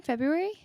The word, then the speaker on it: February: anna is the guest we pronounce the r in february okay anna that's something that